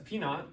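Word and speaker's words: P₀: P naught, okay, that's P naught. P sub 0 is just P, it's said, or the way you pronounce it is just P naught, okay, so P naught.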